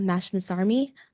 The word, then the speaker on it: Mashmasarmi: Um, my name is Sena Mashmas Army and I'm My name is Sena Mashmasarmi. Uh, last name is spelled M A S H M A S